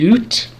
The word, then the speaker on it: Luth: The original German pronunciation of it would be loot, but Americanized they took out the um uml.